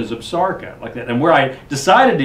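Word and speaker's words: Absaroka: took it from is Absarca. Is the pronunciation. And the pronunciation actually comes from the Crow Indians, and it's the word for themselves.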